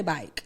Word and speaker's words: Byke: So I'm from Florida, so like we say Byke.